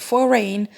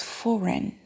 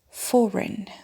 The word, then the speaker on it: foreign: iron and this one a lot of people pronounce it for rain whereas it's foreign foreign and since you asked me a lot about